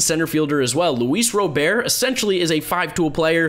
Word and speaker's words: Robert: is going to be Luis Robert, or Robert. I think you can pronounce it both ways. I'm going to call him Robert though, because that's how he says it in a video. They say it in Cuba.